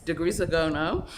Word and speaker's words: de Grisogono: degrees of gono um i actually checked that out online to make sure i'm pronouncing it correctly but um to make it easy let's just call it dg for now but yes it's degree zegono which was obviously a swiss